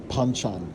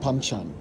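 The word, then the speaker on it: banchan: Like any traditional Korean restaurant, we start off strong with the panchchan. Now, it's usually pronounced with a bit of a P. It's spelled with a B, but you say it panchchan.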